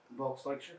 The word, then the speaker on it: Volksdeutsche: INT2: And then in the ghetto, you mentioned-- how's it pronounced? Volksdeutsche? INT1: Volksdeutsche.